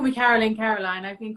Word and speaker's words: Carolyne: just because in America you can pronounce your name two ways yes it's Caroline Caroline okay that's how I